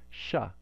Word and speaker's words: Shiva: But you can hear that cerebral quality if you say it correctly, and then the na following the sha is also cerebral.